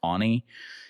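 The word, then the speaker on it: Aune: I think his last name is pronounced Ani.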